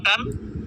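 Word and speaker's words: ٹ: পে, 1 নম্বরে পে, বার মতো লম্বা টান, নিচে 3 নুক্তা, এটার নাম হচ্ছে পে, আমরা বারবার উচ্চারণ করব পে।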